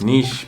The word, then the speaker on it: niche: in the niches I know it's pronounced Niche but like it's like that works for the expression I guess so yeah the riches are in the niches so Niche down as much